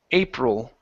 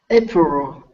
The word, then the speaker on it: April: this word here April move the tongue up touch the top of the mouth with your tongue for the L April April uhhuh okay good good